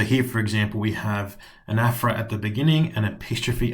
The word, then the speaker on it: Anaphora: Today we are looking at Anaphora or Anaphora, if you want to pronounce it correctly, Asyndeton and Epistrophe.